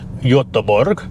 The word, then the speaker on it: Göteborg: I remember flying into Gothenburg airport, Göteborg, I think they pronounce it there, and they had a brand new XC90 on a plinth at the arrivals hall.